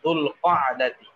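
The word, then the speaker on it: ذو القعدة: শাবান রমাদান শাওয়াল দুলকদাতি আমরা জিলকদ বলি আসলে আরবি শব্দটা হলো দুলকদাতি দুলহিজ্জাতি হ্যাঁ আমরা জিলহজ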